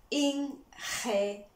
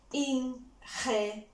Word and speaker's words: ingeniero: Again, we're gonna try to pronounce that as aspired as you can. I'm just gonna break it for you. Ingeniero. Ingeniero.